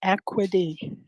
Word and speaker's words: Ecwid: Jumping in real quick, Alisher, when you says equity, it's spelled ECWID. The link is in the purple bubble. I know it sounds weird, but that's what he's saying. It's not equity, EQUITY.